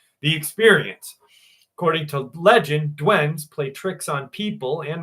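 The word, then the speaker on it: duende: it's spelled D U N D, but it's pronounced Dwen.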